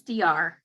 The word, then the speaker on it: Deyar: How would I pronounce your name? It's DR.